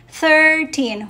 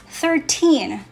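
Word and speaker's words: thirteen: So we don't say 13, 14, we say 13. So the emphasis is on teen, okay?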